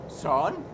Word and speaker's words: Søren: It's kind of like Sean but drunk. Søren.